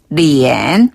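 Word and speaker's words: 脸: 얼굴은 리엔. 리엔. 한 번 더 리엔. 리엔. 얼굴 검자를 쓰는데 중국식 발음은 리엔이라고 해요.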